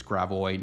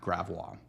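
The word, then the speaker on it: Gravois: one kind of like Illinois not Illinois it's gravo not graa this one's pronounced deiver and then there's some weird ones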